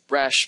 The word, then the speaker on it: Rasch: on another side note rosh balms are named after george rash a Danish mathematician so the correct pronunciation really is rash models and though I know this I learned them as rash models and I can't seem